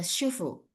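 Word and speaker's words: 主夫: Sama loh bacanya, Shufu.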